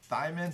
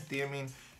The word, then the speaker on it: thiamine: I'm going to admit right now it's 25% thiamine, theamine. You know what? Enough of that. I'm going to look up how to pronounce, because clearly I don't know.